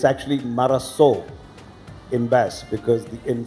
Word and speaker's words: Marazzo: Yeah, so the correct pronunciation is Marazzo. And as you know, the origination of it comes from Basque, which is a sub-language of Spanish.